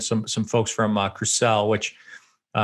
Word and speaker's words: Crucell: some folks from uh crusell which uh am i pronouncing that correctly crucelle yeah crucial yes yeah yeah which is which